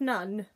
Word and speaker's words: none: um and suddenly none same as done but with a na instead of a da what else have i